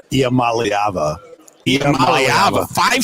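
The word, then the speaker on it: Iamaleava: what how do we gonna say it malava malava five syllables malava n malava malava okay so there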